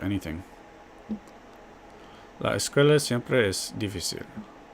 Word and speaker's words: difícil: Difícil with the accent on the... Difícil. Right, that accent I'm remembering now. The accent in Spanish decides where the... I think it's for... If the emphasis is on a syllable where it wouldn't normally be.